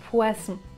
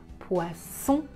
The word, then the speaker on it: poisson: entre ces deux fonds poissons oiseaux ici je n'utilise pas la voix mais quand je prononce le sont j'utilise la voie était ça la différence poisson poison